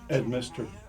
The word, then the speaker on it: Edminster: Edminster. That's good. Edminster, Edminster. like Mr. Ed backwards.